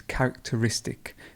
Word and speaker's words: characteristic: here to character and look it looks like a long word but it's characteristic the stress moves a